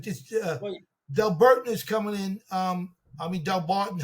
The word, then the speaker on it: Delbarton: Like this, Delburton is coming in. Delbarton. How do you pronounce it? Delbarton.